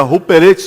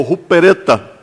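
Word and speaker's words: ὑπηρέτης: Mas quando Paulo utiliza esta palavra ministro no texto, ele pega uma palavra grega que chama-se ruperetes, ou se pronuncia ruperetes, ou rupereta.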